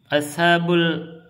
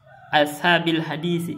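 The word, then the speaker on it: أصحاب الحديث: Akidatus salaf ashabul akidatus salaf ashabil hadis. Kalau gitu bacanya Abi Utsman Asabuni. Jadi aqidatus salafi ashabil hadisi itu bacanya.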